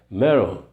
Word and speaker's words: metal: A pronúncia americana, o T aqui, muitas palavras com T americano, ela tem um som de R, é complicado. Metal.